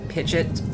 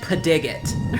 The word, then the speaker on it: Pidgeot: It was supposed to be like pigeet, like like the word pigeon but with a t instead of an n at the end.